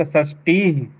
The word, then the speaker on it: षष्ठी: एक षष्ठी नहीं, टी को नहीं खींचना है, टी के बाद ही षष्ठी। एक षष्ठी टी को दीर्घ क्यों करा?